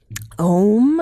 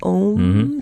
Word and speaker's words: Om: Om, like in yoga, Om, spelled the same way.